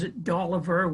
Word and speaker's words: Doliber: Samuel later ended up going to Gloucester, and they pronounced his name as Doliber with a V.